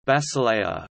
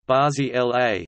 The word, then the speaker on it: Basilea: Basel, also Bâle, German pronunciation, Ba-Z-L, French, Bâle, B-L, Italian, Basilea, Basilea, is a city in northwestern Switzerland on the River Rhine.